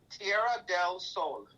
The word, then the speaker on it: Tierra del Sol: Tierra del Sol.